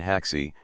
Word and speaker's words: ají: aquel grano, elos el llaman haxi, con acento en la final, es más alta que la adormidera.